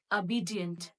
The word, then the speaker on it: obedient: This word is goes like this: obedient, obedient, not obedient. We pronounce this word as obedient, obedient. It is not obedient, it is obedient, obedient. O sound goes like obedient, obedient.